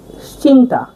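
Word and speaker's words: cinta: সি এর উচ্চারণ মালায় ভাষায় হবে চে হিসেবে। চারের চেয়ে চে হিসেবে হবে। আমরা উদাহরণ দেখছি। দেখুন চিন্তা।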